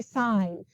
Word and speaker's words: sin: but you say doctor this is spelled sin but you say sign you say cosine you